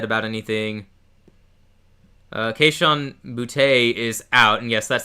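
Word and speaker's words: Boutte: Uh, Kahan Bouty is out, and yes, that's how we pronounce his name around here.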